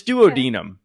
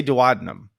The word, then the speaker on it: duodenum: before this podcast and it's duodenum but i always want to say duodenum don't think it matters